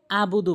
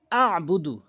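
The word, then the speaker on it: أَعْبُدُ: আর দ্বিতীয় আরেকটি ভুল করে আবুদু বলে, বলতে হবে আবুদু, আবুদু, আইনটি চাপ দিয়ে উচ্চারণ করতে হবে।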